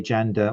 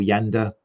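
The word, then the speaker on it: Janda: the time something pretty impressive um from vladimir jander or yander it's a correct pronunciation as chris is reminding me um but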